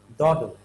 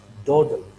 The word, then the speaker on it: dawdle: d a w d l e the actual pronunciation of this word is daughter right so it's simply saying daughter right daughter whether it's british or american excellent birthday just simply you can sound like doddle right daughter now what daughter-based daughter means you